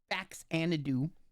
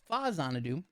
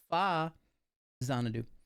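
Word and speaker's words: Faxanadu: especially about an old game that everybody called Fax Anadoo, but it's actually pronounced Fazanadoo. And I'm torturing people with that fact. But you see, look, there he goes. There you go. No, no, no. It's FA Zanadu.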